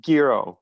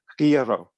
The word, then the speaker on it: gyro: Oh, so the word gyro is not pronounced gyro. It's almost like gyro. It's way back in the throat.